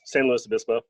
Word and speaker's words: San Luis Obispo: Louis, San Luis Obispo.